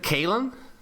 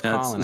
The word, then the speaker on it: Kalen: Isn't it Kalen? No, it's Colin. It's Colin. It's Colin. Spelled Kalen, but it's pronounced Colin. Oh wow.